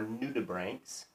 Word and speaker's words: nudibranch: search for sea slugs their proper name are new tube ranks and you di b r8 + CH nudibranch is how you spell it new tuberank new brand new D means